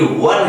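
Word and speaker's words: one: ओ एन ई का जो pronunciation है वो ऑन नहीं, वन है, और वन में व आता है, और वो किस प्रकार की साउंड है?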